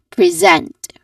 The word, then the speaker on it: present: So it is present. Again, present. There's a stressed um syllable here which is a second syllable.